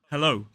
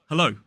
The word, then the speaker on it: hello: dictionary like the Cambridge Dictionary it is o hello with that e vow sound the same vowel